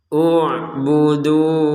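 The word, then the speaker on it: اعبدوا: U'budu rabbakum. Nah, ini hamzahnya tidak ada harokat dhammah, tetapi kenapa kita baca dengan harokat dhammah?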